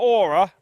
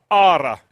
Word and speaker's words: Åre: I'm in not Åre, Ara. Exactly, perfect. Yes. You nailed it.